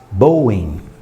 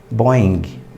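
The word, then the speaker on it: Boeing: que ver um exemplo se eu falar bowen bowen muita gente não vai saber o que é Boing Boing todos os jornalistas todos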